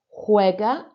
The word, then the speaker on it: juega: Juega a los videojuegos. Remember, really concentrating on those J sounds sounding like an H.